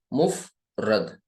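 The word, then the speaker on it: مفرد: spell करके बता दूं मुफ रद ठीक है ऐसे पढ़ेंगे और मुरक्काब है यह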